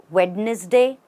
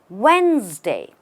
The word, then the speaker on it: Wednesday: most mispronounced word ever have you ever said wedness day or even Wednesday now that is also incorrect the right way to pronounce this word is Wednesday just Wednesday the D does not exist in the pronunciation the e as well does not exist what we what we say it as is when and the S sounds like a z or a zed it makes the word